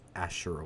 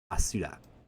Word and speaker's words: Asura: I don't know why I always call it Ashura when it's literally Asura.